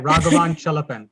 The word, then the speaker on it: Raghavan Chellappan: Today, I'm very happy to have a very special guest, Raghavan Chellappan, correct? Did I Absolutely. say it right? Raghavan Chellappan. You got it right. I try to make sure I pronounce people's names right when I can.